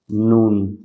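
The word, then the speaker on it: نون: উপরে তালুর সাথে লাগিয়ে নুন জিহ্বার আগা তার বরাবর উপরে তালুর সাথে লাগিয়ে নুন মানে জিহ্বার আগাটা আপনি উপরে লাগিয়ে নুন বললেই হয়ে যায় ওকে এরপর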